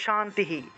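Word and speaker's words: শান্তিঃ: এই যে শান্তি শান্তি এই যে বিসর্গ এর পরিবর্তে হ আসলো আর সাথে আগের অক্ষরের সাথে যে রস ইকার ছিল সেটাও যুক্ত হবে তাহলে শান্তিহি শান্তিহি উচ্চারণ হবে মনে করেন যে বাসু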